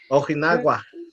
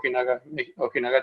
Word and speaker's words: Ojinaga: Ojinagua. Oh yeah, there's like the border towns of Ojinaga, Chihuahua. Okay, I said it wrong.